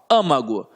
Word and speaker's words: âmago: Âmago, olha como é que eu falo, âmago. Se eu falo âmago, é porque está na antepenúltima sílaba, aqui no A.